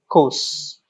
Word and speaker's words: coup: Military coups. It's coup, not a P. We don't use the word P. P is silent.